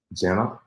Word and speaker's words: Gena: uh today so let's go ahead and bring Jenna how you doing hi thank you and I